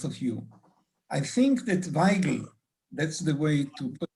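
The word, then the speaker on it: Weigl: I think that Weigel, that's the way to pronounce his name, and Fleck are example.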